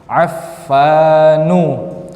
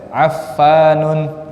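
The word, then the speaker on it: عفان: Affanu, tidak boleh Affanun.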